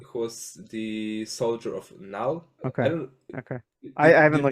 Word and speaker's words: Null: Knall or Null? I say null, Null. as in like NULL, like a null value, you know.